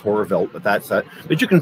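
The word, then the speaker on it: Horrorwelt: o r r o r w LT it's pronounced horror velt but that's but you can find us on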